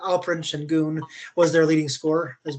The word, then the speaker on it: Alperen Şengün: Alperen Şengün, I think is how you pronounce his name, actually. Alperen Şengün was their leading scorer, as well as averaging 9.3 rebounds, 5 assists.